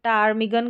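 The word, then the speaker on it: ptarmigan: जैसे कि यह बहुत रेयर स्पेलिंग है। यह जैसे पी को हम पढ़ेंगे नहीं तो टारमिगन करके हो गया।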